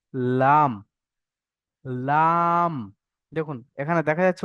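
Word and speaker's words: ل: আমরা জিভের সাইডে পড়েছি না, ওটা কিনারা, এবার জিভের আগার একদম সামনে, ওই আগার কিনারা এবং সামনের উপরের দুই দাঁত, সামনের উপরে যে দুই দাঁত দেখতে পাচ্ছেন, উপরের দুই দাঁত, ওই দাঁতের গোড়ার সঙ্গে লাগিয়ে উচ্চারণ হবে লাম, লাম।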